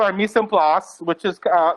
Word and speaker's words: mise en place: So this is called our mise en place, which is like another way of saying everything in its place. How do you pronounce it again, though?